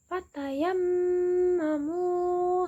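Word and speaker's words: فَتَيَمَّمُوا: ayat 6 yang bunyinya fatayammamu saidan. Nah itu kan yammamu itu kan ada mim bertasjid. Jadi dibacanya berdengung ditahan selama dua ketukan.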